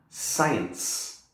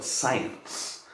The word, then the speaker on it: science: For example, in here, the next one, science. Okay, so we got a silent C here because of the S, and then a soft C here again because of the E. Okay, so science.